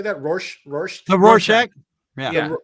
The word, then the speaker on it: Rorschach: Rorschach? The Rorschach. Yeah. Rorschach.